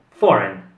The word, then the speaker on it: foreign: parola come giuseppe e questa parola si pronuncia for foreign quindi la g non si pronuncia ora passiamo alla